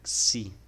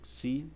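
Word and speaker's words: ξῖ: como em grego, e a pronúncia dela é como se fosse um X, né, em táxi, tá? Como se fosse um X em táxi.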